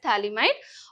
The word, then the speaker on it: phthalimide: See here, P is silenced, that's why I'm pronouncing it as phthalimide.